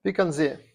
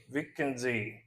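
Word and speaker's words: Vicenza: He's the winner of the elite chorus tournament in which NZ did I pronounce it? Vikenzi Vikenzee in 2002 small village and the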